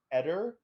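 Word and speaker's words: Eder: a lady named Laura I think her last name is pronounced Etter e-d-e-r but she has the most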